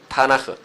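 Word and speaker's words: תנ״ך: 그래서 뭐가 되냐면 타나크가 된 거. 타나 키 내지는 히어 발음 타나흐.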